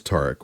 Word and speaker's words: Tariq: And that's good because the correct way to pronounce that, of course, is Tariq, which I once again didn't do.